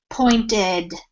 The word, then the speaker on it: pointed: had pointed and again if you're looking to hear the correct uh sound for the ed pointed so with the d sound there um that demonstrated